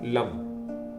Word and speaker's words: लं: मूलाधार चक्र का बीज मंत्र होता है love. L ए एन लम मेरे साथ दो मिनट तक इस मंत्र का उच्चारण करें।